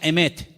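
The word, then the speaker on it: אמת: Y la palabra verdad en hebreo se pronuncia emet.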